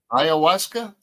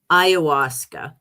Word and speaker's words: ayahuasca: Ayahuasca. Ayahuasca.